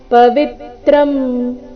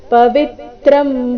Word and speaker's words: ಪವಿತ್ರಂ: ಪರಂಧಾಮ ಪವಿತ್ರಂ ಪರಮಂ ಭವಾನ್ ಪವಿತ್ರಂ ವಿಮೇಲೆ ಆಘಾತ ಪವಿತ್ರಂ ಪರಮಂ ಭವಾನ್ ಪುರುಷಂ ಶಾಶ್ವತಂ